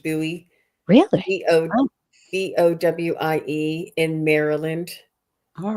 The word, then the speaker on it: Bowie: It's pronounced Bowie.